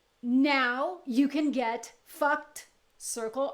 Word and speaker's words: FUCT: And the mark was FUCT, commonly pronounced FUCT.